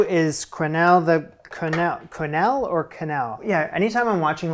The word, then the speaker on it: quenelle: to make sure and I was surprised it's canal canal I guess you don't go you go Ka proper pronunciation is Canal there you have it there